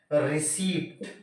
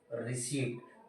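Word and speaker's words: receipt: next देख लेते हैं रिसीव आरई सीई आई पीटी इंग्लिश के अकॉर्डिंग इसको क्या पढ़ते हैं हम हम पढ़ते हैं इसको रिसी लेकिन हम इंडियंस इसको क्या पढ़ पते हैं रिसीप्ट बट एग्जैक्ट वर्ड इ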